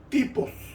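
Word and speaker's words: τύπος: En hebreo, tupos, se escribe tupos, se pronunciará tipos.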